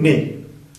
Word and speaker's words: nez: Le nez, en francés, nariz es masculino, no es la nariz, sino le nez, y no se pronuncia esa Z.